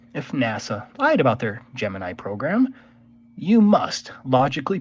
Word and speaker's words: Gemini: give a little bit of background so the Gemini program or gemin is the way NASA pronounced it for some reason no one else